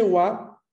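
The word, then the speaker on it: は: Pero cuando luego decimos watashi wa, ese wa después del watashi, es la misma sílaba ha. O sea, se escribiría igual con la misma grafía, pero se pronunciaría wa, porque está en función partícula, porque está marcando un sujeto.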